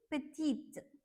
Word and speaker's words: petite: But since we have E here, so we will be pronouncing this T as well. Okay, so this will be petite, petite, which means small.